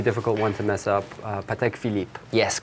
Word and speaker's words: Patek Philippe: also a pretty difficult one to mess up patek philippe yes correct that's perfect super next all right